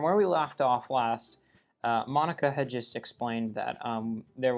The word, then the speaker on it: Monika: they fly at him Monica now and obviously it is pronounced Monica the last two episodes I've been butchering her name pronouncing it mo nica also NAT Sookie is